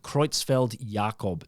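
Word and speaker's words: Creutzfeldt-Jakob: of the signs pointed to a thing called kreutzfeld jacob disease well pronounced i thought i was going to have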